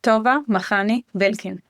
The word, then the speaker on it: Tova Makhani-Belkin: And from Ireland, I think today is Tova Makhani-Belkin. Yeah. Did I do it somehow? Close. Close. All right. Just tell us, please, how is your name correctly pronounced? My name is Tova Makhani-Belkin.